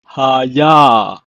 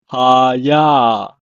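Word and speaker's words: הָיָה: It's pronounced as Hayah. Hayah.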